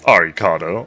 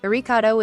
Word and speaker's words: Arikado: Arikado is the Japanese pronunciation for Alucard LMAO.